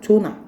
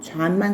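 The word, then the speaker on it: John: 존나 영어 미국에 존 안 살아요. 잔만 살아. 알겠지 얘들아? 그는 잔만큼 나이를 먹었다. 그죠? 그래서 그는 잠과 나이가 같다라는 얘기예요. 읽을 때 잔이라고 읽어. 잔.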